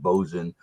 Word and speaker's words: Boatswain: joe's it's called bozen it looks like it's boatswain but it's pronounced bozen chocolate stout 5.4 percent